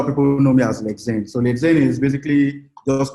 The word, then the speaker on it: Lexain: Did I get the pronunciation well? Lexain.